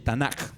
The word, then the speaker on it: Tanaj: Ahí lo escribí como se pronuncia, Tanaj, pero en realidad debería ser una K, Tanaj, pero la K se pronuncia como J en hebreo, el Tanaj.